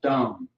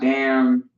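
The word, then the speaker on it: דם: But the Hebrew word is dumb. Not dumb, but dumb. It's like a dumb. Okay? Dumb. D-A-M, dumb. Not damn, dumb.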